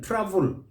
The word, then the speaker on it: travel: a category of words, which have got that EL at the end, that syllable, but the A is not pronounced. Leave it out. So we say chapel, not chapel. Gospel, not gospel. Novel, not novel. Shovel, not shovel. Travel, not travel. Please note that.